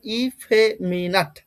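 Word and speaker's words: effeminate: এটার প্রনাউন্সিয়েশন হবে ইফ মিনাট। ইফ এ মিনাট তবে তাড়াতাড়ি উচ্চারণ করতে লাগবে ইফ এ মিনাট ইফে মিনেট আর কিছু না ইফেমিনেট ব্যাপারটা হচ্ছে এইরকম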